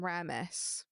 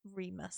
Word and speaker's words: Remus: I was saying Ramus. It's Remus. Okay.